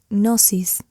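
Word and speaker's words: gnosis: A ese estado se le llama nosis. Se escribe g n o s i s.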